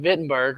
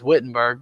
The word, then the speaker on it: Wittenberg: or the university in wittenberg or what we would say is wittenberg because we pronounce our w's a little different and he starts to